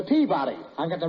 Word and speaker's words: Peabody: in memphis at the peak buddy you've got the wrong pronunciation it's the peabody i've got the right